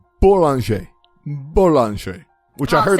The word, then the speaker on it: Boulanger: Boulanger, but the J is very soft. Sorry, Boulanger.